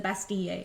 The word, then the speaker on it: Bastille: it like in English, but the double L in French makes an E sound. So like when you say a girl, it's une fille, like Fille. So it's the Bastille if you want to pronounce it correctly.